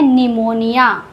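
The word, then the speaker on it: pneumonia: नहीं निकलेगा for example यहां पर पी एन साथ है तो पी साइलेंट होगा इसको कहते हैं निमोनिया पी बिल्कुल साइलेंट है पी का कोई साउंड नहीं है इसको पढ़ते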